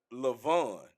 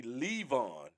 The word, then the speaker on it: Lavon: see okay so now i would have looked at that and said lavon but they it's like two syllables right so it'll be levon when when you speaking of an amish person right so they creep